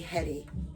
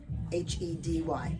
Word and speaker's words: Hedy: And they named me Hedy, Hedy. But they took bets on it to spell it like Heddi, Hedie, but Hedy stuck.